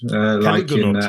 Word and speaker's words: Caligonaut: It's I think it's I always pronounce it Caligonaut. Caligonaut, yes.